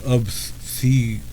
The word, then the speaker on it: obsequious: Obscurious? Let's see. Obscurious. If you're looking at this word and thinking, what? Then just know it's pronounced obsequious.